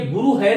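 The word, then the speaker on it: गुरुः: अतः अस्य विसर्गस्य उच्चारणम कथम कर्तव्यम, विसर्ग का उच्चारण हमें कैसे करना चाहिए, इसके लिए मैं आपको बता रहा हूं कि रामः हरिहि गुरुहु।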